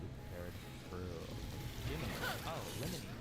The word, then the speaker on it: Lemony: Oh, Lemony. Rhymes with Jiminy. Lemony. Like that.